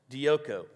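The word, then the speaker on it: διώκω: it's uh it's dioko d-i-o-k-o pronounced dioco which literally means to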